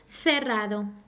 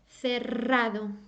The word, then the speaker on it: cerrado: the strong sound first if you ever see a word written with two r's as in pero it's always going to sound strong I mean always okay